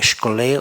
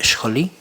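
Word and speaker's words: σχολή: griego más o menos se pronuncia como skole o scholi, que significa literalmente dos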